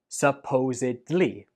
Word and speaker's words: supposedly: The stress goes on the second syllable, supposedly, and at the end, we do not pronounce it like bli. Instead, it is dli. Supposedly.